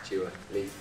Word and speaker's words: Dua Lipa: Dua Lipa. Dua Lipa. Two syllables.